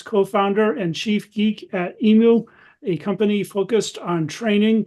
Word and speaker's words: Emu: And before we go on, Enrico, according to our friend Greg O'Bairn, our Australian BS and Beer organizers, he says it's pronounced Emu. Is that correct?